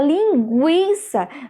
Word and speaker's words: linguiça: E aí na palavra linguiça, veja que ó, nós temos a pronúncia do U.